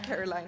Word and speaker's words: Caroline: It's Caroline, actually. Is it Caroline? Yeah, because in German it's Caroline, and the E is, you say it. There So you in English go. it's Caroline, but it's confusing.